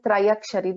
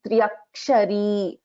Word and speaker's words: त्र्यक्षरी: In the first part, actually, this we won't pronounce this as Trayakshari. This is Triakshari.